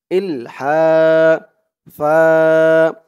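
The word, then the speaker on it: إلحافا: দিয়ে লাম ধরবে, ইল, হা, হা এক আলিফ টান জবরের পরে খালি আলিফ, ইল হা, ফা, এই তো অচিহ্ন হতে অক্ফ করলে ফা এমন হবে উচ্চারণ, ফা, দুই জবর থেকে এক জবর বাদ দিয়ে এক জবর দিয়ে এক আলিফ ধরে টান দিয়ে পড়তে হবে, ইলহাফা, ইলহাফা, লা ইয়াসআলুনান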